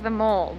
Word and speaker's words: The Mall: Walking down the Mall, aka well, it's spelt like the mall, but it is apparently pronounced the Mall.